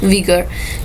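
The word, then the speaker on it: vigour: इसके अलावा विगर, ये UI है लेकिन इसकी जो प्रोनाउंसिएशन होती है वो V होती है, विगर।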